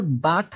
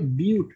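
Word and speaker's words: but-: ওকে, BUT, এটা কিন্তু বাট না, উচ্চারণ হবে বিউট।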